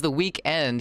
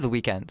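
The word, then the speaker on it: The Weeknd: He just removed the E in N because of another band. Oh, interesting. So it is the weekend. So we are pronouncing it right. It's not the weekend. It's the weekend.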